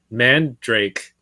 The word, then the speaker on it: Mandarake: link japan amiami uh i go to mandarake i use uh what is that yahoo auctions japan how are you yeah that's how they pronounced it to me when i was there oh then that's i'm just i'm just going by what they say i think everyone i know just calls it mandrake call it what you